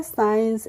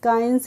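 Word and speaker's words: science: एशन नहीं किया है ऐसे ही है साइंस एस सी आई ई एन सीई तो हमने इसको पढ़ा है साइंस स् काइंस नहीं पढ़ा है नेक्स्ट है एम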